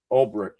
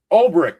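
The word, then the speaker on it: Ulbrich: Jeff, I'm mispronouncing his last name. Olrich. Olrich, that's it.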